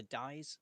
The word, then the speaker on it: dais: On a dais.